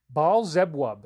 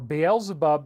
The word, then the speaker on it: Beelzebub: Baal-zebub is how you pronounce it in the Old Testament, or Beelzebub in the New Testament, or Baal-zebub, yeah.